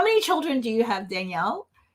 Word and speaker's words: Dianelle: I knew it because it spelled like Diane and then, right? So Dianelle. Yes.